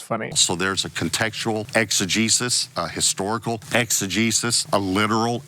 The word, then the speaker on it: exegesis: word means I know I know how to pronounce exegesis he said I want to tell you something